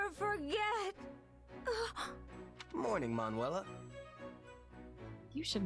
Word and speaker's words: Manuela: Morning, Manuela.